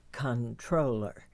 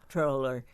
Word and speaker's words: comptroller: listener reminded me that controller is the first pronunciation in the dictionary com controller is the second so and may we